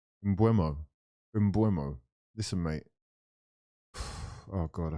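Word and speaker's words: Mbeumo: Mbuepo. I want to get his name right. It's disrespectful. Stop fucking getting his name wrong. Twisted your whole fucking club up. His name is Mbuemo.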